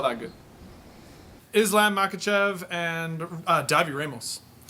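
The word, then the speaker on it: Davi Ramos: good islam makhachev and dhabi ramos okay so it's pronounced because I watched a bunch of his fights today it's pronounced Davi Hamels and Davi Davi yeah Dawg your elbows Davi Hamels alright actually it's like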